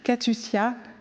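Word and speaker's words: Catuscia: Alors, j'espère que je ne vais pas me tromper dans la prononciation. C'est Katiusia Palamidesi.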